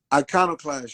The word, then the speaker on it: Iconoclast: Outside of that, then Iconoclast, am I saying it right? Iconoclast, yes.